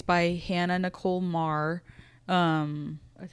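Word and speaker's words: Maehrer: It's by Hannah Nicole Marr.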